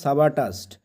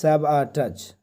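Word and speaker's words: sabotage: নাম হচ্ছে Donald Trump Donald Trump তিনি কিন্তু সাবাটাসড বা সাবাটাস উচ্চারণটা হবে সাবাটাচ ঠিক আছে সাবাটাস মানে কোন কিছু নষ্ট করে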